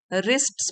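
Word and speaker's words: wrists: उसने रिस्ट मतलब कलाइयां और डब्लू साइलेंट होता है इसमें रिस्ट्स मतलब कलाइया क्योंकि दो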